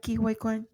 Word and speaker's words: Quan: man you know what I'm gonna go with kin all right you're changing your vote Yes I am ke are did I say it right kin yes okay so support actress in a supporting